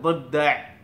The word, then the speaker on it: ضفدع: ضفدع ضفدع, দটা বাংলা দ এর সাথেই যায়। আর ضف এটা একটু একটু ভিন্নতা আছে, আপনারা একটু চেষ্টা করবেন, আপনারা শিখে ফেলতে পারবেন।